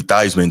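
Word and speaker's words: Theismann: He says, "Joe Thesman." He then they told him from now on it's Thyman. Why is it Thyman? And they said, "Uh, it's going to be Thyman to rhyme with Heisman."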